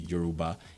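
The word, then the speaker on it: Yoruba: to the world that's the euroba which is correctly pronounced as the euroba IBO and the housea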